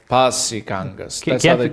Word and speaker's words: Kangas: no but as far as far as I'm aware you just pronounce every letter as it's written in Finnish bangas yeah Kangas can't be too wrong yeah yeah that's how